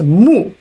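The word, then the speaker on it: 木: It's pronounced mu, which is tree.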